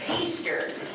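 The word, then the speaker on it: Hiester: now all of us here know how to pronounce that word it's Easter h i e s t e r and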